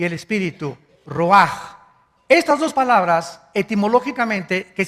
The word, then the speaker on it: ruach: El ruaj, que se escribe R U A C H, ruach, en el hebreo, y se pronuncia igual, ruach.